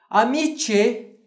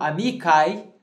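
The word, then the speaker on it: amicae: Como viram aquele touro, todas elas estavam brincando no campo, como viram aquele touro, amice ou amicai, podemos dizer aqui nas duas pronúncias para ficar claro, né?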